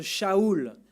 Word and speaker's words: Saul: Mais qui est ce Saul ou ce Shaoul, parce que c'est comme ça qu'on devrait prononcer son nom?